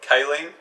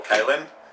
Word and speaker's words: kaolin: Alright, so you've got kaolin, okay, or kaolin, how you want to pronounce it, right, and that's going to work with the body's clotting factors.